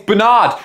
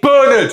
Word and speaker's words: Bernard: And before you leave in the comment section, oh, you pronounce Bernard wrong. It's Bernard. Shut up you Americans. I'm British. Okay, it's burned.